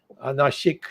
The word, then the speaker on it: Nashik: Anyway, there when from Rama went to Nashik. the western Nasik. Nashik is the correct pronunciation.